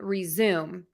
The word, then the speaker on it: resume: So again, we have resume, and that has 3 syllables or 3 beats, and resume, that has 2 syllables or 2 beats.